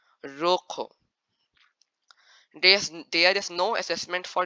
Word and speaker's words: rojo: When it's written double R in Spanish, or the R is in the beginning of the word, you have to roll your tongue and pronounce it as double R.